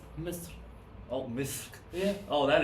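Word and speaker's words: مصر: Al me should. No, it's Misr.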